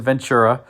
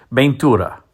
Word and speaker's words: Ventura: And before somebody puts a comment in the comment section, I know I said Ventura as the pronunciation of that particular model.